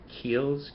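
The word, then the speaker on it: Kiehl's: and I love some of their products uh Keels k i e h l apostrophe s I believe is how it's spelled um they have some great Men's Grooming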